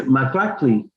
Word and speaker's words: maklakli: And you say 10, 10 is maklakli.